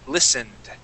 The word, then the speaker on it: listened: here on the word listened okay give me a D sound at the end there listened listened okay one